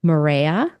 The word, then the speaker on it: Marea: So we wanted to give some time and attention to your latest project and resort collection for Marea. Am I pronouncing it correctly?